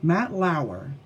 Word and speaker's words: Matt Lauer: Was Matt Lauer, that's how you say it, Matt Lauer, the news guy from NBC, I believe it